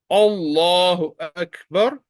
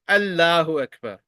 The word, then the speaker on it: الله أكبر: Allahu Akbar. You will not pronounce it like Allahu Akbar. Allahu Akbar.